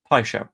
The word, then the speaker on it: Paixão: That's closer than you usually are when it comes to pronunciations. Pishow, that's the one we're going for.